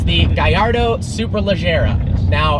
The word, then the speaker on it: Gallardo: It's the Gallardo Superleggera. Now, it is pronounced Gallardo because the name is a Spanish fighting bull, even though Lamborghini is an Italian company. It is not Gallardo, and it is Superleggera, not Superleggera.